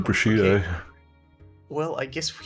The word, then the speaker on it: prosciutto: I thought you were saying prosciutto.